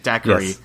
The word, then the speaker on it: daiquiri: Daiquiri like like like hacky tacky.